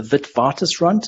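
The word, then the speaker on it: Witwatersrand: the university of the vidvartus runt it's pronounced with the v because it's a dutch name so we just call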